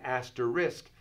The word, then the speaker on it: asterisk: but this is an asterisk meaning it's an addendum an idea so when you have an asterisk like the word risk take no risks when you have an